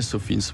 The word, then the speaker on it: SOFINS: Donc en fait, c'est vrai qu'on prononce plus à l'anglais, SOFINS.